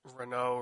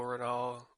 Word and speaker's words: Renault: Uh I think in the States you would all It's French. So it's Renault Renault.